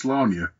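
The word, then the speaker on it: Sláine: Well, you can just check out episode 11 for my Slain special, which also explains why it's pronounced Slania. It's Celtic.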